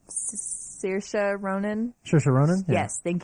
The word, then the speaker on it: Saoirse Ronan: Saoirse Ronan.